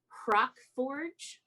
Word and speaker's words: Hrakforj: to a city called Crockforge. How do you spell it? HRAKFORJ. Crockforge. Like that.